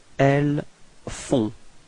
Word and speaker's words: elles font: Okay, and then feminine form, elles font. Same thing, on, on, and then final T is not pronounced.